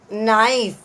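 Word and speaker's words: knife: जोड़ देंगे, तो सिंगुलर प्लूरल नाइफ, इसका केस साइलेंट रहेगा इसमें, तो नाइफ।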